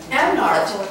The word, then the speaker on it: Amnart: ใช้ตัว R เหรอ T อ๋อ Amnart.